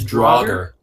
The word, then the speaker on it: Draugr: How do you pronounce that again? It's Draugr.